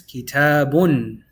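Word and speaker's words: كتابٌ: Why do we say bun? Because we have the double dhamma. This is called dhammatain. It's pronounced like this, kitabun. The ba and one dhamma now takes a noon.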